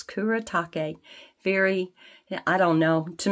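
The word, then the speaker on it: Kuretake: to Google it to find out how to pronounce it but it's Kura take very I don't know to me this just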